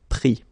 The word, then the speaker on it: pris: Final S not pronounced, so prendre, pris.